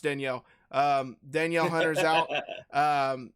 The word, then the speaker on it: Danielle: daniel hunter daniel hunter it's pronounced danielle um danielle hunter's out